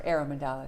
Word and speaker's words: Aromandalas: And I don't want to mispronounce it, but I think it's Aromandalas? Right, or aromandalas. Or right. Aromandalas, okay. Right, and it's the idea of aroma and the mandala energy. Okay.